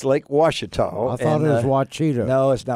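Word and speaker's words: Ouachita: all you folks that look at that word and can't pronounce it, it's not Wachita. It's Lake Washita.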